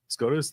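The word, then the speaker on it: SCOTUS: Correct. Scotas. That's exactly the right way to say it.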